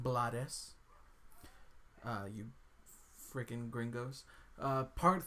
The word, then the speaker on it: Blades: Danny Glover, Bill Paxton, Ruben Blades, not Blades, it's actually pronounced Blades.